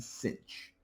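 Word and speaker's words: sinh: often abbreviated s i n h and pronounced cinch. Yes, I know there's no c there. Uh that's just the way it's pronounced. Kosh and cinch of x.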